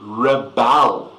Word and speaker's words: rebel: the government to reel now this word has different pronunciation to do this is to re Bell if you are a